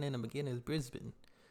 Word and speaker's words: Brisbane: I had to let people know how to pronounce the cities you know and let them know it's not Brisbane like I was saying in the beginning is Brisbane it's not Melbourne Melbourne so but y'all go